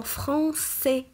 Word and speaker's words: français: Et pourquoi prononce-t-on S dans français même si on a A après le C? On prononce S parce qu'il y a une cédille sous la lettre C.